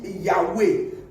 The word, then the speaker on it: Yahweh: architecte de tout l'univers, c'est en 4 consonnes, c'est-à-dire Y, H, W et H. Et dans la prononciation, ça fait Yahweh.